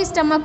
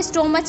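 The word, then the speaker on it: stomach: कुछ लोग स्टमक को स्टोमच भी बोलते हैं, बट बेटा the correct pronunciation is स्टमक, ठीक है।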